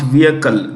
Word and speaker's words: vehicle: The ISRO, the Indian Space Research Organization, has launched the Polar Satellite Launch Vehicle. The H in vehicle is silent.